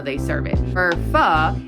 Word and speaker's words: pho: Now, pho is spelled P-H-O. So normally people want to say pho, but it's pronounced pho.